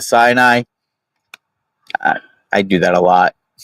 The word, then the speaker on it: Sinai: I may mispronounce this as I go through and say cyanide instead of Sinai.